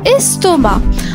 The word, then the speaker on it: estomac: La lettre muette. Le c à la fin, estomac.